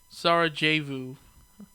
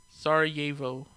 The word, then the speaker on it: Sarajevo: I can't pronounce that for shit, Let me see. Sarajevo. Sarajevo.